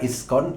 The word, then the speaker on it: ISKCON: আর ইসকন কথাটি একটি এব্রিভিয়েটেড term. এটিকে একোনিম বলা ভালো। যেহেতু ইংলিশ ওয়ার্ডের মত উচ্চারণ করে পড়ি আমরা। ইসকন আই এস সি ও